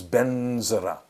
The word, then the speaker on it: vajra: of this stuff so when the tibetans say vadra it becomes benzera so benzera is the same as vajra guru we know pema